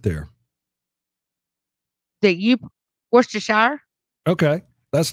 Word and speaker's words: Worcestershire: at all you know in England where that comes from that's not how they say it how do they say it Worcester whoo Worcester Worcester yep Worcestershire they don't say what's the shire they say Worcester really okay I didn't